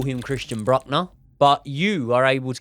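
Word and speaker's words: Brückner: I call him Christian Breückner, but you are able to give me a perfect pronunciation. Christian. In German, it's pronounced Brueckner. Brueckner.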